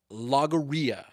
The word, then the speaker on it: logorrhea: I said Logorrhea.